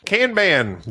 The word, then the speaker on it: Kanban: You often mispronounce words. It's Kanban.